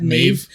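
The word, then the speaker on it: Méabh: in wolf walkers right you have maeve which is spelled m-e-b-h do you remember the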